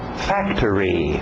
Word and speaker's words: factory: Factory, factory. Pronúncia rápida, o final parece árvore. Tree, factory, factory, ok?